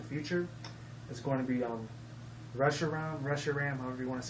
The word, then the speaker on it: Reshiram: is going to be Reshiram, however you want to say it. I used to call it Regiram, but then I found that was wrong, so I called it Reshiram.